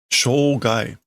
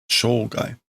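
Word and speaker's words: 生涯: Shogai. Shogai.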